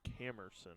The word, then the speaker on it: Camerson: eight that's Cameron bar actually camerson bars apologize been saying it wrong all evening it's camerson at least according to the roster he that and it